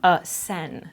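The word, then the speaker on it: Seine: Sen? It's French, I believe. It's always French. It's always fucking French. Sen. It's S-E-I-N-E. I think it's like a river or something.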